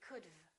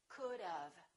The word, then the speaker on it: could've: A lot of my students make a mistake and they just add the V and they say could've. It's not could've. We put a little sound in there and it sounds like this. Of, could've. It sounds like this. Think about dove, which is a bird, the bird dove, and say could've, could've.